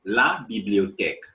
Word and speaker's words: la bibliothèque: names so that on your own, you can pronounce it correctly. And always make sure you repeat after me. The first one, la bibliothèque.